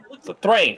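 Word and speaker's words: Thráin: How do you spell that? It's like Thain. Thrain.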